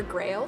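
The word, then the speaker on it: Graël: more information about each one of them though Grail is the elemental dragon guardian of Earth and Grail is pronounced Grail even though it's spelled ger AEL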